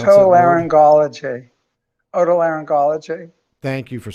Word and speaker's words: Otolaryngology: How do you pronounce Otolaryngology. Otolaryngology.